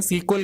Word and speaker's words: SQL: आप यूज करते हैं सीक्वल, SQL, जिसे हम प्रोनाउंस करते हैं सीक्वल के नाम से, और इसकी फुल फॉर्म है स्ट्रक्चर्ड क्वेरी लैंग्वेज।